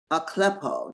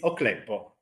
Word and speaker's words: Ocleppo: Lori Shanderson, and our guest today is Ocleppo. Did I pronounce that right? Yes, that's perfect. It's not how they pronounce it in Italy, but it's okay. Tell me how they pronounce it in Italy. It's Ocleppo.